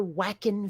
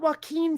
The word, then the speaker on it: Joaquin: who always talk about the actor whackin phoenix not joaquin phoenix whackin phoenix and uh the truth